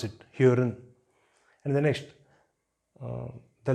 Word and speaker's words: hören: So the first example is hören. Hören. So here the letter R is here. It is in the middle of a word, so you should pronounce it hören.